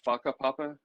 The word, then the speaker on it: whakapapa: In terms of work, oh, and by the way, that whakapapa, WHs in Maori are pronounced as Fs.